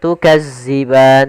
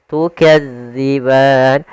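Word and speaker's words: تكذبان: Hati-hati dalam melafalkan huruf dalal karena di sini bukan huruf za. Jangan tukazziban tapi dia tukadziban.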